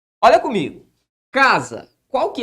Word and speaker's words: casa: Ok, Marcelo, eu sei que ela ocupa a penúltima sílaba. Olha comigo. Casa. Qual que é a sílaba tônica de casa?